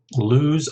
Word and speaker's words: loose: Loose or loose? And the answer is, of course, loose. Okay, it's a S sound, whereas the other one is a Z sound.